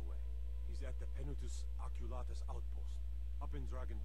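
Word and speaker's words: Penitus Oculatus: to Commander marrow right away he's at the pen Otis oculus outpost up in drag and reach okay so that's how you pronounce it you know you'd think for the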